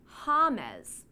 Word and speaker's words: James: Colia because James Rodriguez's name is actually pronounced Hamez, which is similar to Hummus.